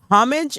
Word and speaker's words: homage: Homage is homage. Homage is not a word. The H is silent in English.